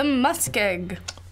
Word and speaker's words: muskeg: It's the muskeg.